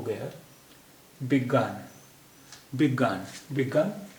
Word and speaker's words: विज्ञान: को लंबा होता है तो यह हो गया विज्ञान विज्ञान विभाग ने विज्ञान विज्ञान मनोविज्ञान जो बेक